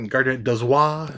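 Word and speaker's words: Gardner Dozois: Uh, I got the year's best science fiction 27th edition by Garnet Dwis.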